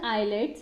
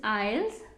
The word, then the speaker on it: IELTS: बहुत सारे बच्चे इसे आईलेट्स बोलते हैं पंजाब में. अगर आप आईलेट्स बोल रहे हो तो इसकी स्पेलिंग क्या होनी चाहिए? ILETS. इट्स नॉट आईलेट्स, इट्स आइल्स.